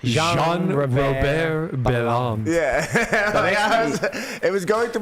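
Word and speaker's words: Jean-Robert: His name is a little It's It's Jean Robert Bonde and it's pronounced Sean Rober.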